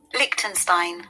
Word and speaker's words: Liechtenstein: me show you the country's name that country liechtenstein says small country in central europe lichtenstein okay